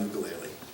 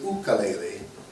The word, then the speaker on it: ukulele: Let me tell you about the ukulele. First off, I am pronouncing it wrongly, as most of us hey-oles do. The correct Hawaiian pronunciation is ukulele.